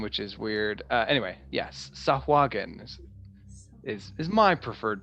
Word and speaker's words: Tsojcanth: Anyway, yes, Tsojcanth is my preferred pronunciation.